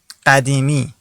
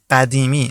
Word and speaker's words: قدیمی: point of view, you can use this one, قدیمی. قدیمی. I'll repeat the pronunciation.